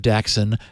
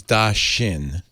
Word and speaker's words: Daxin: Not that it matters at all, but it's probably because it's Chinese Daxin. Da being one word and Xin being pronounced shin.